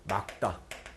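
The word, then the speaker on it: 맑다: 막다. 기억으로 발음됩니다. 여기 말다라고 되어 있죠? 틀렸죠?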